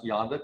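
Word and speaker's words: Yonder: One, so you remember how to pronounce Yonda correctly, Wild Blue Yonda.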